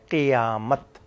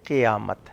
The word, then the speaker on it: قیامت: تلفظ بھی نہ بدلے۔ قیامت اکثر لوگ قاف کے زبر سے پڑھتے ہیں، قاف کا زیر ہے، قیامت، قیامت نہیں ہے، قیامت ہے، جہاں سب نے